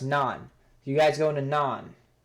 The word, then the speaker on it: Nantes: that it's actually pronounced it's actually pronounced nun it's pronounced nun you guys going to